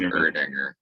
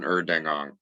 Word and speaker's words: Erdinger: put in your mouth uh it's uh erdinger that's exactly what i was in more time that's an erdinger yeah not an erdengong not an earning offer